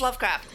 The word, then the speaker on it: Lovecraft: how do you say that how do you pronounce that again or something like that it's Lovecraft this is a mantra used by cthulu's SC